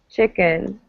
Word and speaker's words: chicken: it's the neutral vowel so chicken it's like an uh sound instead of an e chicken yeah okay all right